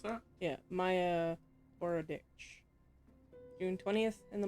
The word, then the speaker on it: Maya: Is that how you pronounce that? Yeah, Maya Borodich. June 20th in the morning. Maya? Maya.